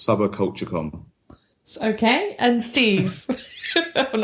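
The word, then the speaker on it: Subbacultcha: l t c com so that's sub culture com okay and Steve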